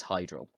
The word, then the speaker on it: Hydral: also point out um AEL you can carry on pronouncing it the way that you are the actual pronunciation is hydral very good wonderful I